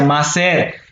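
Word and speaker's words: מעשר: El diezmo en hebreo se pronuncia maser.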